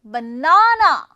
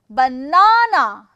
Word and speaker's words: banana: now in this condition there are three syllables and you are going to put that syllable on stress stress I should say stress on the second one banana banana rest of this thing